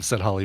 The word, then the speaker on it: Halle: it fast do it do it the right way Barry it's Halle Berry see Halle Berry it kind of it